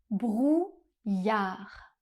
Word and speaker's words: brouillard: On a un son /j/ qui est fait par les lettres I et deux L.